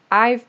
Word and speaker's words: I've: Please, when you are speaking, pronounce this V very clearly. I've been working on this.